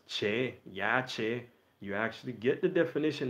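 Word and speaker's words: Yashe: So we had wrote it Y-A-S-H-E in order to help bring the brothers and sisters along, even though we're continually telling you all the true pronunciation is Yache.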